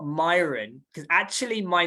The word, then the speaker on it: Mayuran: And he said, it's not Mayuran, because actually my name, everyone calls me Mayuran, right? But this is a kind of English way of pronouncing my name, Mayuran, right? But it's actually Mayuran, right?